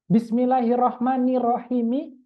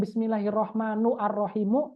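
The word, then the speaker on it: بسم الله الرحمن الرحيم: kita seperti itu nah di antara yang paling Makruf di kalangan kita dan khususnya di kalangan ulama-ulama tajwid dan ulama-ulama qiraat bismillahirrahmanirrahimi bukan bismillahirrahmanu arrahimu meskipun boleh seperti itu tapi yang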